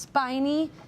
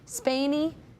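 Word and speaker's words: Spaeny: I think it's pronounced Spiny. Spany.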